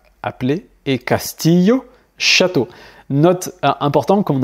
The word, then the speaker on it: castillo: poulet, llorar, pleurer, billete, billet, llamar, appeler, et castillo, château. Note importante, comme on a vu au tout départ, si tu entends par exemple caché, cheno, chover, pocho, bichette ou castillo, eh bien c'est exactement la même chose, mais